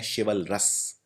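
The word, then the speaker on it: chivalrous: और जो पर्सन बहादुर होगा वो है शिवलरस, तो वो हो जाएगा CHAVALROUS, शिवलरस। तो आपको इनकी स्पेलिंग भी याद रखनी है।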